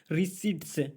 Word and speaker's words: receipts: and economist जो अर्थशास्त्री है वो भी विश्वास कर रहे थे कि सेंट्रल जो जीएसटी है रिसीट्स, इसे रिसीट्स पढ़ा जाता है RECEIPTS, पी साइलेंट रहता